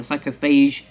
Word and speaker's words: Psychophage: That is how you say it, the Psychophage.